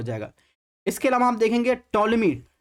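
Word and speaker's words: Ptolemy: इसके अलावा आप देखेंगे टॉलमी। टॉलमी में आप देखेंगे यहाँ पर पी जो है साइलेंट रहता है, जैसे साइकोलॉजी में है वैसे इसमें देखेंगे टॉलमी इस तरह लिखा जाता है इंग्लिश में।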